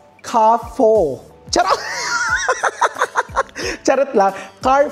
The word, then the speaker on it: Carrefour: Actually ang pagkakabigkas ko nga doun sa Car 4 dati is car for or care for kasi syempre hindi naman tayo brain hindi rin naman talaga tayo taga-Taiwan para malaman natin kung ano ba talaga ang bigkas. Pero ginugle ko talaga siya kung paano siya ibigcas. That's kafo.